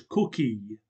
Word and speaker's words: Cook: I readily consented and he was cookie for so he pronounced my name and I was Ori